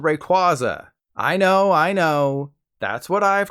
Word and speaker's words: Rayquaza: Like it's kwazy that this is how it's pronounced. Seriously, Rayquaza.